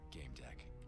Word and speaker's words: Gamedec: in i wanna start it's a strange profession game deck oh good i pronounced it right you're neither a player nor